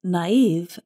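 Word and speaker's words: naïve: Naive is spelled N-A-I-V-E, and we put two little dots above the letter I to show that we pronounce that vowel separately.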